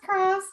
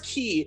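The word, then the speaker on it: χ: There's a Greek letter Chi, which is X, but they explain in Kingdom Hearts 2 that is not pronounced Kai for them. It's pronounced Key, so that they can Like a put X in keyblade.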